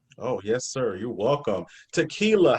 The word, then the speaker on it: Takelia: l i a um my name is pronounce like the drink but it's not spelt the same uh so tequila and dan on